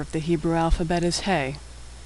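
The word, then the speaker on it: ה: the hebrew alphabet is hey hey makes the sound of h as in hello like h in english hey is silent when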